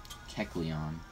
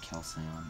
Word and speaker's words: Kecleon: I don't even know how to say it. Kecleon. Not Calcion.